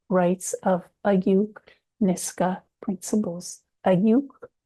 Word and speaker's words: Ayuuk: Ayuuk is the is a Nisga'a pronunciation of Ayaw which is the Coast Tsimshian and then Gitxsan say Ayook.